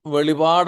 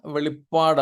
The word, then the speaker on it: വെളിപ്പാട്: മതി യേശുക്രിസ്തുവിന്റെ വെളിപ്പാട് പലരും വെളിപാട് എന്ന് പറയാറുണ്ട് മലയാളത്തിൽ വെളിപാട് എന്നല്ല വെളിപ്പാട് എന്നാണ് പ്രത്യേകിച്ച് കത്തോലിക്ക പശ്ചാത്തലത്തിൽ നിന്ന് വന്നവരോ അല്ലെങ്കിൽ ആ ഒരു എന്താണ് പറയുന്നത് അവരുടെ കൂടുതൽ പ്രസംഗങ്ങളും മറ്റും കേൾക്കുകയോ ആ ബൈബിൾ ഉപയോഗിക്കുകയോ ഒക്കെ ചെയ്തവർക്കാണ് അങ്ങനെ ഒരു ഉച്ചാരണം ഉള്ളത് എന്നാൽ വെളിപാടല്ല വെളിപ്പാട് റെവലേഷൻ ഓഫ് ജീസസ് ക്രൈസ്റ്റ്